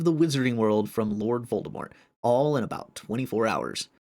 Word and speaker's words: Voldemort: Number one, it was originally supposed to be pronounced Voldemort. You do not pronounce the T because it is a French name.